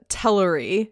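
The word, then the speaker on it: Teleri: so is it sorry i noticed that you're saying tellery is that the pronunciation cool i've been saying hillary the whole time yeah so um there's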